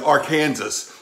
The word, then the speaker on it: Arkansas: and then you got the e and s which are silent you know like in des moines and illinois and arkansas yeah uh-huh knack-a-dish spelled